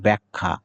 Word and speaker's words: ব্যাখ্যা: দেখি, এটার উচ্চারণ হবে ব্যাখ্যা। বেখ্যাও নয়, ব্যাখাও নয়, বেখাও নয়, কিছু নয়।